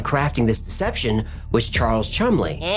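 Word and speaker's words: Cholmondeley: One of the British intelligence officers working on crafting this deception was Charles Chumley.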